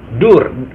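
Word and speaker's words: दूर: Tulisannya door, bukan pintu ya guys, tapi door. Kalau dalam bahasa Inggris itu door, pintu artinya guys. Tapi kalau dalam bahasa India itu tulisannya memang door, tapi bacanya dur, artinya jauh guys.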